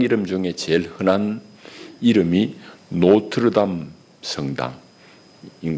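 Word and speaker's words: Notre-Dame: 그래서 미국식으로 읽으면 노트데임이 됩니다. 노트데임, 노트르담입니다. 프랑스말 노트르담을 자기식을 읽어버리는 거예요.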